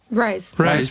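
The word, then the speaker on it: RIIZE: Rise.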